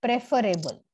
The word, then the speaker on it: preferable: i o n they rhyme but they are pronounced in a different way right say prefer we say prefer but preferable now there is no logic here right with